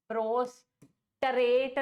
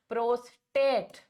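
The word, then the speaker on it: prostate: That is प्रोस्ट्रेट नहीं है। बार-बार बोल रही हूं स्पेलिंग का ध्यान देना। प्रोस्टेट का मीनिंग कुछ और होता है। Horizontal to the ground. It इज़ प्रोस्टेट। आर नहीं आ रहा टी के बाद।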